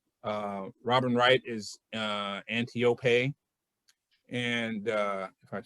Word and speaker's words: Antiope: Hippolyta is her mother, and her mentor is Antiope.